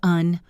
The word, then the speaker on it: and: This is one of the most common words in English, but we rarely pronounce the D at the end, and we often reduce the vowel to a schwa. So, and becomes un or just n.